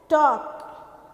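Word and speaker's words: talk: उसके बाद है टॉक, तो टॉक में क्या साइलेंट है, टॉक में साइलेंट है L, ओके।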